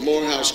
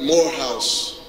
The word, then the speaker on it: Morehouse: I was at a dinner, a fundraiser for Morehouse College, and the president at the time was, who was the president?